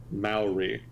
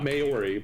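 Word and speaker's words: Māori: with significant tensions between indigenous Maui not mayori but Maui I got [ __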